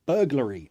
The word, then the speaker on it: burglary: can you please pronounce burglary okay yes I can this is the word Bur that's a schwa burglar burglar re burglary burglary burglary stress here burglary have you ever